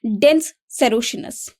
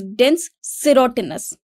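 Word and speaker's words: dens serotinus: अब अगर आप देखेंगे तो इसी के आगे इसका प्रोनाउंसिएशन भी लिखा हुआ है, इट इज डेंस सेरोटिनस। ओके, तो हम इसे सेरोशिनस नहीं बोलेंगे, इसको क्या बोलेंगे? सेरोटिनस।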